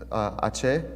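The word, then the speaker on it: Aché: So this is how you pronounce Ache.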